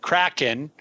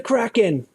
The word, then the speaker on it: Kraken: as, this is the way I'm going to pronounce it, Kraken, filed suit against several anonymous reviewers seeking to